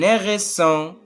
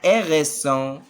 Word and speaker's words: hérisson: Un et alors H avec E, avec E accent aigu, ça donne E. H c'est muette.